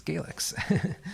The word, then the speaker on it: GX: corrected me uh interestingly I don't know if I'd ever heard um GX pronounced out loud uh before I did that video so it's gax um what you're going